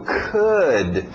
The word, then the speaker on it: could: nosso verbo auxiliar can passado could é mesmo som de good could could could could